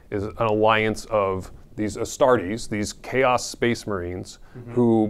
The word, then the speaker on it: Astartes: How do you pronounce that? Astartes.